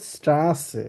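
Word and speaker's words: Straße: for example S সেট কে আমরা কিভাবে বলবো স্ট্রাসে তো এটা হচ্ছে ডাবল এস যেভাবে থাকে ছয় এর মত উচ্চারণ হবে আমরা কিভাবে বলবো স্ট্রাসে স্ট্রাসে মানে কি রাস্তা আমরা যে রাস্তায় যে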